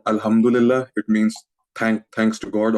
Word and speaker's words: Alhamdulillah: Some of my Arab friends pronounce it as Hamdullah, because they have their own dialects and slangs. So I thought, okay, that's a cool way of saying it, and I started saying it like that too.